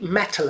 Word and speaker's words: Mettle: So she got a free metal account, which is spelled METTLE, for her business, and that gives her Free Agent, a piece of software to do your accounting for free.